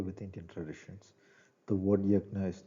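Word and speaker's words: यज्ञ: It can be pronounced yajna, yajna uh, in popular usage. The exact pronunciation is yaj, as in Yajurveda, or yajnam, the G and N sound together.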